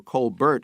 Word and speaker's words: Colbert: to hate it will make of the real Colbert, or Colbert as his sister pronounces it, and if they will follow him